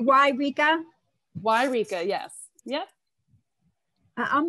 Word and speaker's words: Eureka: put a link in it's it's eureka why rika why nika i know that's how to say it why rika why rika yes yep